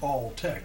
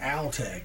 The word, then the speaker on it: Altec: And that's pronounced Alltech because the Alltech rep told me way back. It was the name. People say Altech.